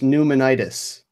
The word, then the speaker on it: pneumonitis: vibe innate certifying okay so Lena says it's pronounced pneumonitis that's the one okay Wow and then I